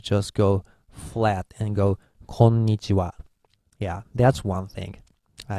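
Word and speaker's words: こんにちは: in Japanese to say hello we go it's konichiwa in Roman era but home knee she and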